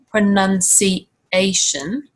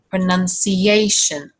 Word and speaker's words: pronunciation: words so for example if we take the word pronunciation it's not pronunciation but it's actually pronounced like this pronunciation you can hear that intrusive yeah sound again pronunciation and this happens